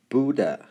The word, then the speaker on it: Buddha: 我们中国文化里面的佛 Buddha Buddha Buddha 这个 H 不发音， OK Buddha。